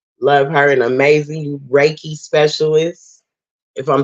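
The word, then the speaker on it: reiki: again call me yes I will raiki it's raiki y'all raiki I said it right yes it's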